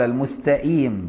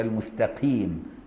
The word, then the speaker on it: المستقيم: أو قال الضالين بالضاء المشالة بدل الضاد، أو قال المستئيم بالهمزة بدل القاف، بخلاف ما لو نطق بالقاف مترددة بينه وبين الكاف، يعني رققها شوية. المستقيم، المستقيم خلاها قريبة من الكاف كده، دي صحيح.